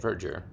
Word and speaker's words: verdure: And that is how you say it, verdure.